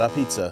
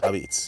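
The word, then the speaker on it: Apizza: The A in front of pizza is how we pronounce it, not a pizza, Abits.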